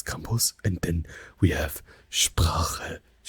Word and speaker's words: Sprache: Does someone want to like try to pronounce it here? Yes, Sprache, Sprache, Sprache.